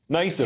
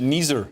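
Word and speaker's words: NIESR: Which is actually, funny enough, is short for nicer. Nicer. You pronounce that. Oh, Which yeah. is appropriate. I pronounce it Neezer. Yeah, no, it's nicer.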